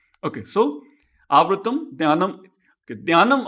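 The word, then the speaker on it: ज्ञानम्: Okay, Dhyanam, I am using a Marathi pronunciation here. Dhyanam. In North India, it becomes Gyanam. In Gujarat, it becomes Gnanam. Maharashtra, it becomes Jnanam. I think the most precise, probably closest to Sanskrit is Marathi pronunciation, in my opinion. I could be wrong. But I prefer Marathi pronunciation, Dhyanam, for North Indian Gyanam or Gujarati Gnanam.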